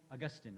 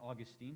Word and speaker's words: Augustine: of this as well the Christian scholar st. Augustine or st. Augustine depending on how you want to pronounce it st.